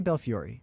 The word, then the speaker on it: Belfiore: And what do you I'll pronounce tell- the E? I'll say Belfiore.